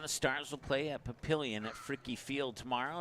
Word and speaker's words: Papillion: So the emphasis was on the middle syllable, pill, Papillion.